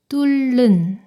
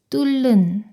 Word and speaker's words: 뚫는: 이 단어는 리을 히읗 받침이 리을로 소리가 나니까 뒤에 있는 니은이 리을로 발음돼요. 뚫는, 뚫는.